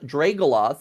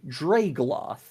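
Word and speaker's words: Draegloth: which, by the way, I keep mispronouncing that. It's not Dragoloth. That's a whole different monster. This one is called a Dragoloth. No O.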